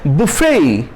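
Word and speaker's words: buffet: तो इसका उच्चारण क्या है? बुफे। बुफे, यहां भी ई को थोड़ा खींचिएगा।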